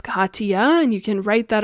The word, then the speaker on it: Kathiya: connect with her um please spell her name k a t h i y a and that is pronounced Kaa and you can write